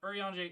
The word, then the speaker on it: Urianger: Urianger is how you pronounce it.